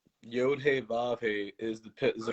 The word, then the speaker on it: Yod: Yod over here, it says allegedly it's pronounced Y-O-H-D. So it's the O sound.